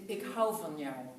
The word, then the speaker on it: ik hou van jou: I can say it in different languages, but in the Netherlands, ik hou van jou.